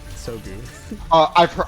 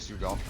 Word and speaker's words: Sugo: Is it Sugo or Sogu? I've been told it's actually Sugo.